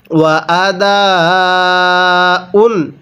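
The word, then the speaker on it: وَأَدَاءٌ: বিল মারুফি, এরপরে ওয়া আদাউন, এই দালের মধ্যে আমরা চার আলিফ টান দিব, কারণ যখন দেখব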